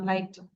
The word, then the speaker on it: light: লাইট, GH উচ্চারণ করবো না, লাইট।